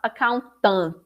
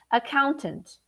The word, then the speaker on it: accountant: small too okay accountant it's not accountant or a content it's very subtle accountant accountant accountant and also